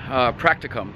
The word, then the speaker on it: practicum: practi reom is done practicum not practi really I keep saying it wrong it is done at